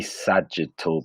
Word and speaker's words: sagittal: That was the sagittal plane. That's how you spell it up here.